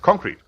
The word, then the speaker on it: concrete: It's concrete. Emphasis on the first syllable.